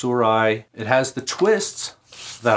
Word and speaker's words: Sirui: do you pronounce it surah suru s-i-r-u-i there's no proper way to say it it's surai it has the twists